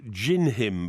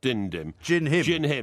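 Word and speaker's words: Dindim: but din-dim uh wasn't having it so it's pronounced Jin him by the way not dined him Jin him because it's Portuguese all right it's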